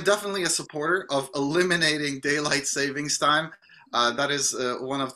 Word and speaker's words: daylight saving: So, first of all, it's daylight saving, singular, not plural time. So a lot of people say daylight savings time, but that's actually the incorrect pronunciation.